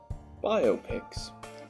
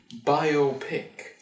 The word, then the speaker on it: biopic: bio graphic pictures that the correct pronunciation is indeed biopic and not biopic that some may think let me tell you